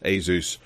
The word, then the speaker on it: Asus: Asus Rog Phone 7 I'm actually going to start pronouncing this Asus Rog Phone 7 because I believe that's how they pronounce it um yeah uh there